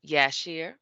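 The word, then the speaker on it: Jasher: the book of um yashir we have the j but we pronounce it as a y sound and um i'm going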